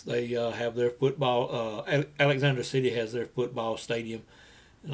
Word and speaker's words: Alexander City: to go down to Eric city now that's Alexander city is the real pronunciation of the word everybody around here just calls it Eric city had to go down